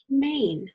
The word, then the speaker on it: mane: Silent E comes along and he turns that word into mane, which is a big long hairdo, kind of like a lion.